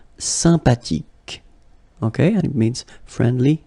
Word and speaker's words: sympathique: Sympathique, remember the H is not pronounced, sympathique, okay, and it means friendly, nice.